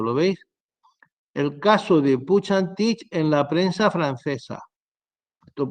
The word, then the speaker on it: Puig Antich: el ordenador pequeña y volvemos un clic bien pronunciado es puig antich que la dije un día se pronuncia y